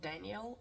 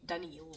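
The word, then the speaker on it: Daneel: and by the way he is not Daniel as uh some people I hear pronounce he's really danal with dou E and U basically he's a very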